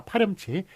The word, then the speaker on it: 파렴치: 그렇지만 다 사람들이 미입자라고 발음하는 게 아니라 미립자, 예, 그 다음에 소립자, 수유탄이 아니라 수류탄, 그 다음에 파염치가 아니라 파렴치 이런 식으로 다 하나로 그렇게 읽어버리기 때문에 그래서